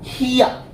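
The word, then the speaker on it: here: হিয়া, হিয়া, হিয়ার না কিন্তু, হিয়া, ঠিক আছে।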